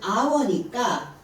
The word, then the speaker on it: hour: 1시간 하면은 hour니까 for an 얘가 H가 소리가 안 난다 그랬죠? 그래서 on이 들어가야 돼요. for an hour 이렇게 하시면 되고요.